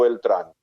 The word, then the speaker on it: Beltrán: bajo el pseudónimo Roberto Beltrán. No era Alberto ni era Jorge, pero era un apellido de dos sílabas con acentuación aguda.